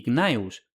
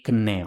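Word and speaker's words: Gnaeus: los nombres Gaius y Gnaus, que en consecuencia a menudo se escriben y se pronuncian erróneamente Kayo y Kneo.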